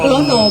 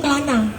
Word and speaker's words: Kelana: tadi itu tari topeng Kelana bukan klano Pak Bukan klono bukan nanti jadi itu bacanya itu klana bukan apa tadi klono iya gitu jadi tadi